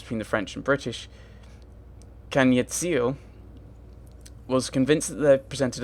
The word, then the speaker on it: Ziio: Okay, I want to see if there's actually, like, a guide to pronouncing her name. Because she said it was Ziio.